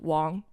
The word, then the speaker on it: Wang: Now, if you learn pinging that is pronounced Wong like D A N Gang like it's it's just okay.